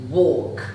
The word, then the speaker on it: walk: As you can see, as you can hear, the pronunciation is really similar, but if you pay attention, my mouth has a different movement in pronouncing these two words.